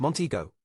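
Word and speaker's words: Montego: outside its commercial core also it is pronounced monteo you fleshy fool Tex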